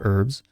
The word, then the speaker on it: herb: in the wild, medicinal herbs. So they're sometimes just herbs. I don't know how she's saying it, but I'm American, so we're going to call it an herb. The H is silent.